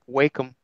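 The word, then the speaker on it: Wacom: How do you say wake 'em? Wake 'em. that was right. That one's right. That was right. Yeah, wake 'em tablet. Yeah. Because I've heard walk 'em.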